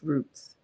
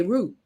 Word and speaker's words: routes: this story is, so I pronounce it safe roots, right? Because from where, right, and from where I'm from in Philly, we say route, like Route 66, Route Love 1.